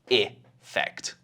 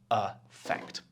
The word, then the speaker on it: effect: They sound the same, effect, or sometimes this can be effect. But in my pronunciation in British, we're usually saying effect.